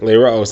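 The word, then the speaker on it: לראות: liros and it says it's spelled leiraos, or it's pronounced leiraos and spelled liros, to link the one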